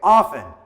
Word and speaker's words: often: as you can see I say often with the silent T but you can pronounce